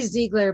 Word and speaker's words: Ziegler: uh uh just let me know if i'm pronouncing your name correctly i just need your photos actually ziegler but my maiden name is zeiger so i'm